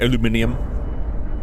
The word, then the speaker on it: aluminium: Aluminium. I think like that's every English-speaking country outside of America, maybe Canada.